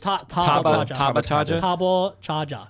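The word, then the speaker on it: ターボチャージャー: Didn't you say that's how it's pronounced in Japanese? Tabochaja. That's actually how they say it, right?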